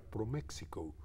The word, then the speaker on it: ProMéxico: primer lugar creo que siempre hay que pronunciar proméxico porque así fue concebido el organismo pero efectivamente no funciona